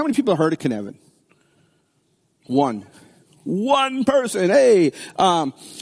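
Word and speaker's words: Cynefin: worth looking into this it's called canvan it's a Welsh pronunciation um it's a framework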